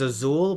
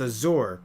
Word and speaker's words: Azure: the way i say i keep on saying her name is azul but it's not it's azure but the way they pronounce it it sounds like azul constantly yeah um but no it's azure a-z-u-r-e and the passenger